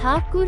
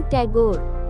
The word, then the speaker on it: ठाकुर: ठाकुर नहीं, टैगोर, तेजस ने टोका। जी नहीं, ठाकुर ही सही है। अंग्रेजों से प्रोनाउंस नहीं होता था ठाकुर तो उन्होंने टैगोर कर दिया।